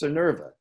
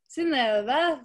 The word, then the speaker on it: Synnøve: Say it's Synnøve. Yeah, Synnøve. Yeah. But I mean, in Norwegian, it's like Synnøve, so it's like, you know, how are you going to tell anyone to pronounce it like that?